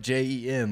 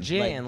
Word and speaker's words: Jen: Like Jen, like normal. Oh. human Well, you name. didn't say it like normal. You said it like Jen. Gin, like the gin liquor.